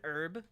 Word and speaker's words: herb: designation what is an herb the H is silent also spices can be